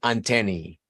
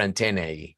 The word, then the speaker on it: antennae: El plural, antennae, or antennae, or antennae, whatever you want to pronounce it like.